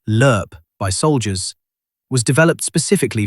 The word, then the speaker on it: LRP: The longrange patrol ration designated LRP and pronounced as lurp by soldiers was developed